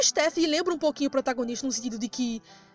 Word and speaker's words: Stephanie: é o nome é Stephanie no caso a pronúncia é Stephanie Eu gostaria que o steffee tivesse dito a